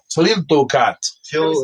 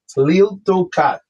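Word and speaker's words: Tliltocatl: Tiltocat. So like Tlilt, T-L-I. Tiltocat.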